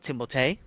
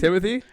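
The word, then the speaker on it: Timothée: him I his name Timothy timot timot okay that's how it's pronounced how he's like yeah it's pronounced timot but people call me Timothy cuz he's like French uhhuh but like yeah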